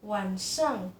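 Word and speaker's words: 晚上: Nah, biasa diucapkannya wansang.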